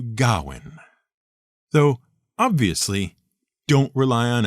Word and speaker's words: Gawain: w a i n the one thing you can be absolutely sure of is that it isn't pronounced gain it's much closer to Gowan though obviously don't rely